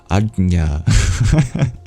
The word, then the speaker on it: Ajna: Difficult to pronounce. A J next to a palatal nasal sound. Ajna.